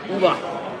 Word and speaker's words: Uwe: Uva.